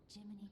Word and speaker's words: Gemini: Jiminy, please escort him to the hotel. It's interesting that they basically... It's interesting how they say Jiminy, but it's spelled Gemini.